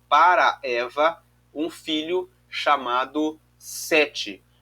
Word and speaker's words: Set: se escreve o n mas o nome dele na verdade no na no hebraico é set então que significa eh